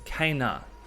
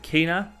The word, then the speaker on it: Kena: How do you pronounce her name? It's Kenna. So I've heard people pronounce it Kina, Kenna, now Kenna.